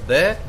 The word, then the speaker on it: the: इन्हीं के बेस पर इस जो वर्ड है आपका THE, इसको प्रोनाउंस किया जाता है या तो द या फिर दी।